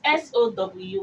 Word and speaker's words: sow: Now, that same way you pronounce cow, I want you to pronounce SOW.